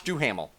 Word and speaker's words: Duhamel: by josh do uh do hamel yeah josh duhamel sorry mispronounced that uh who is the utopian he's